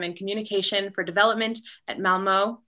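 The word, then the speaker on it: Malmö: communication for development at malmo am i pronouncing that right malmo in yeah university in sweden um so welcome leif chris and carrie thank you that um lot on the o is hard to say i don't even know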